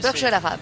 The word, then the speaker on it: Burj Al Arab: Al Nasser et après RP Burj, comment vous prononcez? Burj Al Arab.